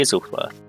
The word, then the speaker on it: Isleworth: I've always pronounced it Alsworth, but it's just occurred to me it could be Isleworth.